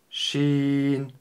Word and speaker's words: ش: Шин, Шин, Шин. Буква Шин мягкая. Не стоит ее произносить твердо. Шин.